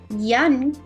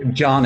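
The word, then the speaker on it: Jan: Let's continue with Yan Kaday. Did I say it right now? John actually, but that's most difficult name in the world. John. Yeah, just like John.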